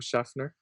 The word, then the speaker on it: Schefter: You guys should follow Adam Schefter. Oh, right, that's how you pronounce his name.